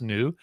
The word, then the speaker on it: NXU: by the team at NU. That's spelled NXU and it's pronounced NU.